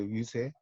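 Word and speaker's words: 遊說: 유세라는 것은 이때는 이제 이 유세라고 할 때 이 글자는 여러분 이제 알아두실 게, 요 글자는 설자가 아닙니다. 새로 읽어요. 유세. 이때는 이제 달랠새자로 읽어요.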